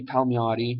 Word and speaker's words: Palmiotti: off the good uh amanda connor and jimmy palmiotti that's how you say his name how me